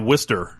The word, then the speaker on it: Worcester: When it's spelled like Worcester, like it's like Worcester.